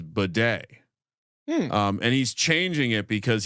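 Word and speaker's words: Badie: He actually has recently announced that the pronunciation of his name is Bidet.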